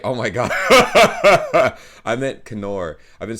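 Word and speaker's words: Knorr: i said correct oh my god i meant kenor i've been saying it right uh because the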